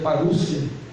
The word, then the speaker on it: parousia: Diz assim, a palavra parousia, que se pronuncia parúcia, significa vinda, chegada, presença, volta, visita real, advento, chegada de um rei.